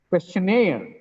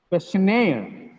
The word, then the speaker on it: questionnaire: second syllable second element the second syllable is stressed that means the last syllable stress not second last syllable stress questionnaire questionnaire employee i am an